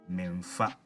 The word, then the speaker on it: memfa: To make this sentence negative, we introduce a double M between the me and the fa and pronounce it as memfa.